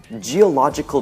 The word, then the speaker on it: geological: reconnaissance which is okay too the last one geological drills geological drills geo logical drills gia la